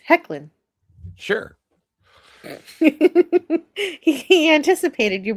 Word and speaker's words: Hoechlin: Tyler Hoechlin. Pronounced Hecklin.